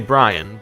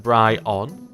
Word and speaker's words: Brion: I would almost say Brian, but that's obviously not what it says. You could pronounce that Brion. Like that.